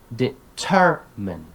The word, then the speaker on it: determine: commonly mispronounced words plus this is a great opportunity to touch upon word stress syllable not word stress here but syllable stress right exam develop recognize determine right you teach them